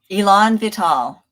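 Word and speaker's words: élan vital: do you say that Elon vital so it's two French two French words I put together it means vital force there you go and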